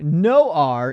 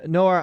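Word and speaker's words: Noir: But no R says French for black.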